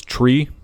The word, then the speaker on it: tree: 3, 5, and 9 pronounced phonetically is tree, like the thing with fucking leaves on it, fife, F-I-F-E, and niner.